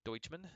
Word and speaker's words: Doucheman: pronounce his name uh that is not doucheman even though that's how it's spelled uh so this thing we're going with deutschmann sounds like good let me check the